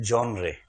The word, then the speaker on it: genre: GENRE, इसका उच्चारण है जॉनरे या जॉनर। कुछ लोग जॉनर बोलते हैं, कुछ जॉनरे बोलते हैं।